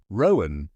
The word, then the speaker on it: Rowan: Rowan with the weight in the first syllable and the care in the second.